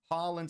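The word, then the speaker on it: Haaland: Diaz is correct. Dash is also correct. Harland is correct. Holland is also correct.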